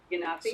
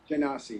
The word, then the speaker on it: Genasi: Depends on if you want the hard G or the soft G. How you Yeah. want to go.